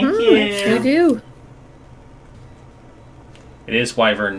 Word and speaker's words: wyvern: It is wyvern, not wyvern.